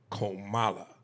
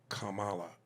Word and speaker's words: Kamala: that out the way Camala Harris's name is pronounced komala uh you know uh like the thing a lot of the listeners forget to put in their emails oh Kamala oh Kamala when they